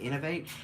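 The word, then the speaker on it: Inov-8: You can see the logo on there is I-N-O-V, and then it's like a little foot that's supposed to be the 8, so that's, you pronounce it Innovate.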